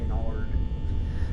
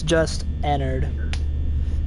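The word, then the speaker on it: Ennard: the name Enard yeah people kept calling him inard yep people kept call yeah they pronounced it as an ARD or I I've heard an Enard as well Enard what but it's it's just it's it's just Enard Enard like it you're Enard yeah it's supposed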